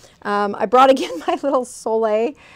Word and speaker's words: sole: And it's pronounced Sole, but it's spelled S-O-L-E.